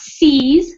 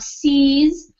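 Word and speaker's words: seizes: how to pronounce it's sees so we don't worry about the I it's just the e sound sees sees the opportunity just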